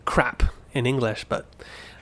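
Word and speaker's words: ครับ: sounds like you're saying crap in English, but the Thai, they're not saying the last consonant, they're just saying it as a dead syllable. So crap, not crap. Don't say the P.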